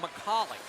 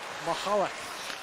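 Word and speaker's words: Michalek: of the Czech Republic his family pronounces the name molik and there's a sound at the back of your throat that I'm not able to make very fast so I hope you don't mind and the family doesn't that it's Mahal while his brother in Phoenix likes to be called mahalik zabin right the defenseman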